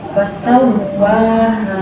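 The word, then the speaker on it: فَسَوَّاهَا: Ya-nya itu nyambung dengan huruf ha ya. Fasawwaha gitu ya? Iya. Fasaw gitu bacanya. Fasawwaha.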